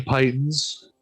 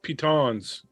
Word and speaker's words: pitons: I will take 20 pythons and I believe those are pronounced pitons.